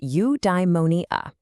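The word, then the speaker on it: eudaimonia: Udimmonia. It's pronounced udeimmonia.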